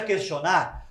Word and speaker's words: questio: question por question lembra questionar porque em latim se pronuncia question e em latim Quest